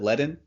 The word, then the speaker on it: Ledn: CSO of Leadon and is that how you pronounce it ledin yes awesome awesome and so you guys are